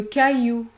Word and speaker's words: caillou: combinaison suivante a i l ouai vous allez prononcer le son i comme dans le mot le travail le travail le caillou le caillou ou encore le bercail le bercail